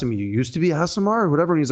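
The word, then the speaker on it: Aasimar: Because it's Asimar.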